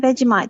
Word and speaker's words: Vegemite: of butter, and just like a smidgen of Vegemite, just like smeared, just a tiny, tiny little bit. It's fantastic. Yeah, I mispronounced it.